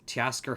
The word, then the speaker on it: Teoscar: We have how do you pronounce this? Teoscar Hernandez?